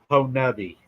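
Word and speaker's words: Honobia: I was told it's Honubby. Okay. Whenever it's time, I'll say H and you say it, so no one will yell at me for saying it wrong. No, I'll probably say it wrong. I don't think anybody in Oklahoma pronounces it right, hardly.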